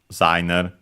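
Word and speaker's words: デザイナー: you write it as designer, even though often pronounced as designer. Yeah, let's check its accent. Yeah, luckily, just like in English, on the za.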